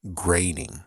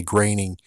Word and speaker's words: Groening: It's like, yeah, but you're gonna say graining, you're gonna say groaning and not graining.